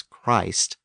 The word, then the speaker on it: Christ: a long vowel as Christ but we pronounce the words Christian and Christmas with a short vowel and thanks to orm